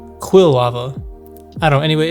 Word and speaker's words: Quilava: I've also been realizing I think I've been pronouncing kava wrong my entire life I think I always pronounced it as qual laava but it's Quil lava I don't know I remember I looked it up um like when I looked through the guide or whatever it was quill lava I don't know anyway